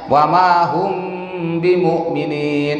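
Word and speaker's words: وما هم بمؤمنين: Ingat bacanya wa ma hum bimumin, itu ifas syafawi. Kalau ada huruf mim di mati kemudian menghadapi ba di depannya mesti ditahan.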